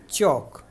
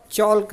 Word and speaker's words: chalk: इसके बाद अगला देखते हैं CHALK चौक। इसको हम चौल्क नहीं चौक पढ़ेंगे, क्योंकि इसमें भी एल साइलेंट है।